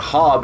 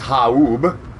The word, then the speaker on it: Haub: It's not Hob, it's Haub. Sorry, I've been saying it wrong the entire time.